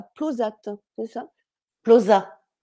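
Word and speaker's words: Plauzat: euh ou d'ailleurs à plosat c'est ça plosa ça se prononce pas le T non en overne il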